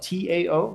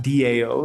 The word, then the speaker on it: Tao: uh so seeds of and then Dow is spelled Tao like the Dow H so uh go ahead and head over there um it's not Dao like decentralized autonomous organizations but Tao um so uh thank